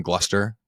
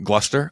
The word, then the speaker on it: Gloucester: Do you work with a sub in Gloucester? Is that how you say it? North Shore? Yeah, you nailed it. Sure. Gloucester?